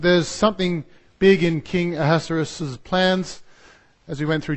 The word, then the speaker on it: Ahasuerus: Ahasuerus, something like that. Yeah, that's the Hebrew way he meant to say his name, but I'll stick to the anglicised version, Ahasuerus. But he had a plan.